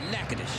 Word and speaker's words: Natchitoches: It's just a pronunciation. The one in Louisiana, you don't call it Nacogdoches, you call it Natchitoches.